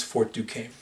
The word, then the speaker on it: Fort Duquesne: to of course have their intriguing spawns but pronounce Fort Duquesne now Fort Duquesne is located in a place